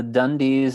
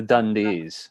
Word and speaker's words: Dundies: i'm pronouncing it wrong i'm pronouncing it like crocodile dundee rather than the dundies a bunch of you have been saying that okay i'm saying the dundees rather than the dundies